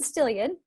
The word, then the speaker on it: Stillion: It's called Yes, it's called An AbunDANCE Life with Stillion. Yes. Rhymes with million or billion.